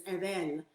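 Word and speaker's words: עָוֶל: So wildly enough, the Hebrew pronunciation is evel.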